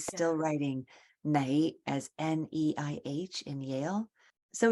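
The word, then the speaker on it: 你: So actually in my place, we pronounce the N and L, we will not pronounce it well. But as a teacher, I have to pronounce it quite well. It doesn't mean that when you say "nei" and then you pronounce "lei" is wrong.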